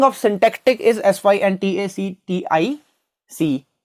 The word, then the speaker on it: syntactic: इफ आई से the pronunciation of this word is सिंटैक्टिक एंड नॉट साइंटैक्टिक, right, तो मैं आपको प्रिस्क्राइब